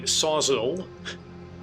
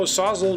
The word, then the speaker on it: Sawzall: A battery-powered Milwaukee sawzall and a selection of blades.